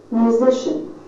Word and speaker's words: musician: Musician, with stress on the middle syllable.